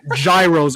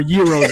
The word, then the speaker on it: gyros: from everywhere cheesesteak greek gyros or gyros if you want to say it properly chicken wings and everything